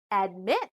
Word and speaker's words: admit: syllables contain short vowels but still the stress is on the second syllable admit permit rule number three there